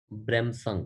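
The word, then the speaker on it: Bremsstrahlung: प्रदान किया जाता है ब्रह्म संग अच्छा ठीक है अब उसके अंदर मतलब इतना सारा हिस्सा जो है यह एसटीआर यह इतना बड़ा हिस्सा जो यह सब हम साइलेंट कर दिया है जी हां समझ मिनिमम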